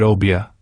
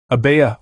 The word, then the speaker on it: Obeah: Many of us are familiar with the word Obeah, pronounced Obeah or Obeah.